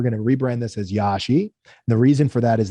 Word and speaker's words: Yashi: this domain for years yashi y-a-s-h-i sort of phonetical two syllables there's a lot of